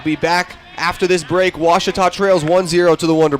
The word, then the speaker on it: Ouachita: Back in Texas, everybody pronounces it Wichita, but really, it's Ouachita. Ouachita. Ouachita. How would you pronounce it? Ouachita. Ouachita. It's Ouachita Baptist University. Get it right. It's Ouachita, people. It's Ouachita.